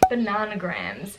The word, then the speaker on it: Bananagrams: Bananagrams. It's kind of like Scrabble. I think it's supposed to be pronounced bananagrams because it's like anagrams, but like I suck at it, but it's fun.